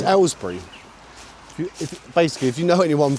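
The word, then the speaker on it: Aylesbury: This is uh what we call an Alsbury accent. Um, Ellbury actually. Alsbury is the posh way of saying it. Oh god. Um, yeah, it's Ellbury.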